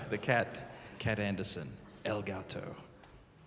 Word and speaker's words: El Gato: Which is pronounced like that, by the way, because I got it wrong once, and apparently what I said was a cake. El Gato. El Gato, the Cat. Cat Anderson. El Gato.